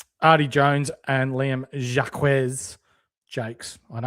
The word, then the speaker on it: Jacques: Artie Jones and Liam Jacques Jakes.